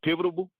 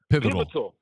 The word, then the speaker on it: pivotal: age bracket, we are kind of the most pivotable piv pivotable pivot. Dang, I can't even say it right now. Pivot pivotal.